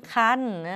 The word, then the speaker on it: ครรภ์: สน ใจ นะ คะ หลัง ร หัน ท่า ไม่ ใช่ ตัว สะกด มี พยัญชนะ มา แต่ ว่า มี ไม้ ทัณฑฆาต ค่า เสียง ก็ ไม่ ต้อง กลัว อะไร อ่าน เป็น ไม่ หัน อากาศ น หนู ไป เลย คำ ที่ 7